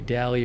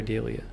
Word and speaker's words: dahlia: picture open the oh dolly is also an acceptable pronunciation dahlia dahlia and dahlia are all acceptable according to wikipedia anyways i didn't even